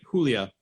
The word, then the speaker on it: Julia: Julia, I'm pronouncing, yes, great, Julia. I'm just correcting my Spanish-ish pronunciation. It's a beautiful name.